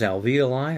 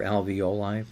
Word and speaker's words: alveoli: And in the lower part of that illustration, you can see it says alveoli or alveoli. People pronounce it both ways.